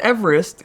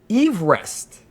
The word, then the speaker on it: Everest: Number 5 is that we are pronouncing Mount Everest incorrectly. So it was George Everest that I guess was named after in 1841. This is according to the site. Everest, not Everest. Everest.